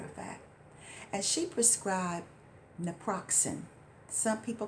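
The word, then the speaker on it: naproxen: as a matter of fact and she prescribed Naproxin some people call it napasin and it's spelled n a p o x n I'll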